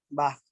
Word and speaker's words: Bach: La pronunciación es Bach, ¿no? Bach.